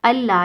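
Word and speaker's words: الله: अन ला के ना, नून साइलेंट है ना, लाम के ऊपर शद आ जाएगा तो नून साइलेंट हो जाएगा, अल्लाह ये पढ़ा जाएगा, ठीक है।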